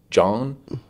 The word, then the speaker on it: Joan: It's from an artist named, I thought it was Joan Capote, but I think it's pronounced John with a J.